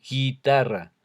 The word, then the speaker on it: guitarra: Porque ahí es como si leyéramos directamente la G y la E, guerra, o la G y la I, guitarra. Ahí no suena la U.